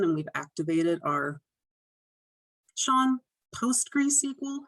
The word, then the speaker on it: PostgreSQL: Just FYI, we do have the server management add-on, and we've activated our, Sean, PostgreSQL. How do you pronounce this word? You nailed it. That's perfect. Nailed it.